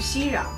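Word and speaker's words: 息壤: that the Heavenly Emperor had a treasure called Xirang Xi means to stop Rang means soil This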